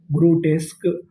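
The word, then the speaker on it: grotesque: क्यू यू ई इसे पढ़ेंगे का ग्रो डेस्क। ग्रो टेस्क।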